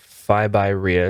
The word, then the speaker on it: FIBYREI: want to be over leveraged your website is phi by rhea is that how you pronounce that yeah so that's f i b